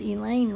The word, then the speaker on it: Alain: like this isn't over but Alain rhymes with pain he wants it to